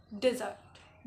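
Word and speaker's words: dessert: लीजिए आप एक बारी इन दोनों को अलग-अलग तरीके से प्रोनाउंस किया जाता है डेजर्ट में आर का साउंड बहुत ज्यादा आता है बट डेजर्ट डेजर्ट यहां पर आई का साउंड थोड़ा सा आता है जो मीठे वाला डेजर्ट है ना वहां पे थोड़ा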